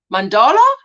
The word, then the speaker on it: mandala: But it's a mandala. So there you go. So I just say it like that now. Then it definitely doesn't sound close to Mandela.